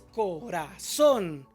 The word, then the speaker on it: corazón: La palabra corazón, que la estamos viendo aquí de nuevo, es corazón. La sílaba tónica es son, pero como sí termina